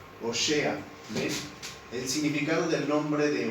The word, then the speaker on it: Oseas: del nombre de óseas en hebreo óseas se pronuncia o sea es el significado del nombre